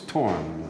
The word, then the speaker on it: Thorn: It would be pronounced like thorn in English, but it's Torn, mm-hmm.